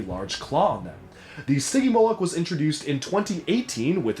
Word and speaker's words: Stygimoloch: I looked it up and I've seen a lot of different variations and arguments on how it should be pronounced, so I personally just decided to go with the way that LEGO themselves pronounces it, as Stygimoloch, as you can see in the LEGO Jurassic World shorts. Now, these creatures are obviously